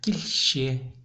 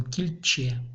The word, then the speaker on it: кильче: Парща, кильще, кильче. Так обычно не говорят. И сразу обычно видно, если кто не знает хакасского языка, и он читает хакасский текст, он кильче прочитает. А надо кильще, керще, иче, ну и дальше.